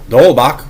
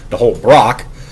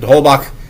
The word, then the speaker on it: de Holbach: Again, if Ra has some actual evidence that de Holbach, whose name he consistently mispronounces as de Holbrock, differentiated between those atheists